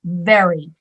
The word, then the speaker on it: very: and you ha and you really concentrated on doing very and putting your teeth on your lip very very yes those